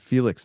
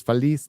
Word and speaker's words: Feliz: I said Felix Navidad, but it's Feliz Navidad.